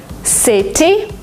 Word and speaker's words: city: City, you don't say it. City, city. City? It's like DNR, city.